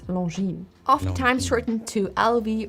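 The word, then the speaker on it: Longines: The G as well as the S are silent in the name. So instead of saying long jeans or long, it's long.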